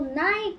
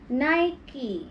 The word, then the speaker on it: Nike: Yeah, in Ireland and England, we call Nike the same as Philippines.